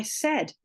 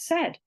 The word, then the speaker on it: said: Today I say something, yesterday I said. Now, what do you notice about said? In most accents of English, it doesn't rhyme with laid or paid.